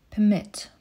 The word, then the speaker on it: permit: Wymowa czasownika i rzeczownika dla kontrastu.